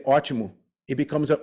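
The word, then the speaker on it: ótimo: good word for example archimu has an o with an accent it's a forward slash accent above the O right um t-i-m-o so you have two o's there one has an accent to make it ah okay the other one doesn't have an accent so we say archimu it becomes a u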